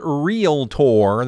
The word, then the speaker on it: Realtor: And we have all things Realtor. That is the right way to say the word, folks. Please say it that way.